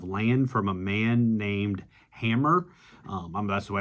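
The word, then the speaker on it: Hamor: We see how Jacob buys a plot of land from a man named Hammer.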